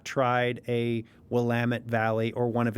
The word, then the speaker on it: Willamette: Oregon one again because I think I always mispronounce it? The Willamette Valley. Willamette. Many people would want to say Willamette, but it's Willamette. Willamette.